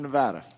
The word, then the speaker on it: Nevada: oh and Mr President thank you so much for saying Nevada properly I urge the rest of my colleagues to learn the proper pronunciation for our great state of Nevada and with that I'm